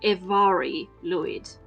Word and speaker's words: Mari Lwyd: The English authorities from the year 1800 on thought it was pronounced somewhat like Mary, but it's not. I've looked it up, so apparently it is pronounced Evari Lwyd.